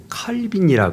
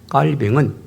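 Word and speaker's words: Calvin: 자, 우리가 이제 깔벤 깔벤 그러는데 이제 옛날에는 칼빈이라 그랬어요. 좌한 칼빈. 영어식 발음으로. 자, 그런데 이제 사람의 이름은 그 현지인의 발음을 우리가 쓰도록 하죠.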